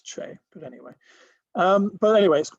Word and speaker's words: Che: always um originally um i was never sure how to pronounce che um but i i understand now that it's uh named after a place in the ukraine called cherokasi i probably don't pronounce that right um i'd hoped it was pronounced shay based on shay guevara because it's revolutionary but um no apparently it's che but anyway um but